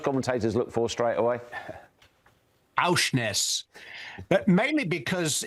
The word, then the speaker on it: Aursnes: It could be his idea of a joke, and Aursnes may be a very vulgar Norwegian saying, but I'm trusting him that Aursnes is the correct pronunciation.